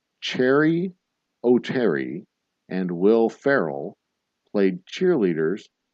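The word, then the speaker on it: Cheri Oteri: Cherry O'Terry and Will Ferrell played cheerleaders at a high school in a popular SNL skit. What was their mascot? And I think it's pronounced Sherry O'Terry.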